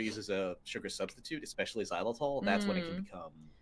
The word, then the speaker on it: xylitol: Xylitol. Xylitol?